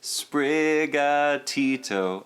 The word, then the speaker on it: Sprigatito: weed cat's name and that is a sprig tito a la despacito plus brigadito that's a good is